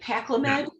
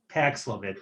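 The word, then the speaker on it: Paxlovid: do the wrong spelling did i say it right pacliman it's pax love it p-a-x okay v-i-d v-i-d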